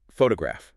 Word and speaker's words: photograph: Um, how about photograph? Good one. We say so. photograph clear stress on fu right first syllable but then photography ah